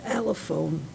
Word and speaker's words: allophone: you probably, what's the allophone? It's in 2B, acceptable performance indicators, candidates and NFA phonemes and allophones. I hadn't heard that word before. Is that the way you pronounce it? Yeah, that is correct.